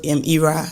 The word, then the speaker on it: Ayra: a name called Ira in EUR I knew that Nigerians would not pronounce it as Ira they not they not